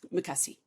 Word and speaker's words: makasih: And the way that you say it like quickly is makasih makasih.